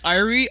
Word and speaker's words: Iriy: That's Irie, IRIY, and we'll include a link to it. Idiot. It's IR. Oh yeah, you said it right.